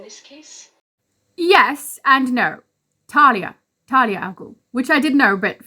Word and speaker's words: Talia al Ghul: Talia al Ghul, which I did know but for some reason mispronounced.